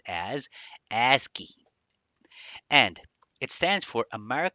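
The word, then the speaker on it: ASCII: first of all stands for or it is pronounced as aski and it stands for americ American Standard code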